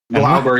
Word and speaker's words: Glauber: Because your main is Lucky Grabber, I think. Or how do you say his name? Glauber, yeah, Lucky Glauber.